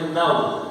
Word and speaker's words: know: Rules number 4 क्या है? W अंत में हो तो साइलेंट रहेगा। अगर W अंत में आएगा तो क्या हो जाएगा? साइलेंट हो जाएगा। जैसे KN और W, KN और W पीछे क्या दे रखा है? W, तो इसको बोलेंगे नाउ। क्या बोलेंगे? नाउ।